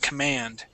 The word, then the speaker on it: command: This word here is command. Okay. So the accent is at the end. Command.